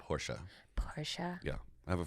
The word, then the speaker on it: Porsche: It's a Porsche.